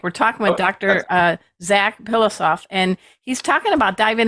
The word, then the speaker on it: Pilossoph: What do you say to people when they try to, wait a minute, let me spell it out. Pilossoph. Soft pillow backwards.